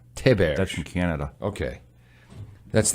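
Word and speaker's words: Théberge: How does your mom pronounce it? Theberge. Theberge. That's from Canada. Okay. That's the French... Canadian, yeah. Yes. Theberge. So Theberge would be the real French way to say Yeah.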